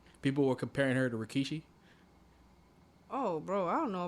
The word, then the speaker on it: Rikishi: People were comparing her to Rikishi. Oh, bro, I don't know about that stuff. Nigga, who's Rikishi? Oh my god. Well. This was episode 2. No, who's Rikishi?